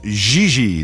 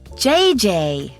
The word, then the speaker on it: Gigi: You mean Gigi Ling? No, I mean JJ. Gigi. JJ. En français, you pronounce G like J and J like G.